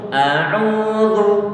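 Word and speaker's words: أعوذ: Kalau ain dia dhammah, pokoknya semua antum selalu ingat setiap ada huruf yang didommahkan biar nanti mendapatkan suatu pengucapan yang sempurna, suara u terdengar dengan jelas.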